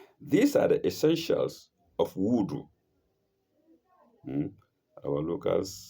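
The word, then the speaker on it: wudhu: Wood or wu is spelled w u d h combined and then u len woo.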